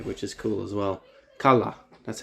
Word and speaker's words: Qala: Qala, that's how you say it.